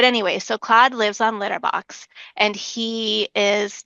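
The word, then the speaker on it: Lytyrbox: Um and so Claude lives on a planet called Litterbox, but it's spelled L Y T Y R B O Ks. Um and it's but it's Litterbox.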